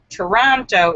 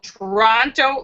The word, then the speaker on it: Toronto: David Jones says, speaking of countries with often mispronounced names, Toronto is pronounced with a soft second T.